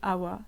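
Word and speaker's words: חוה: parler dave c'est que mon prénom c'est eva et en hébreu cela se dit awa ça s'écrit et vav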